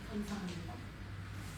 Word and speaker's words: 감사합니다: 감사합니다.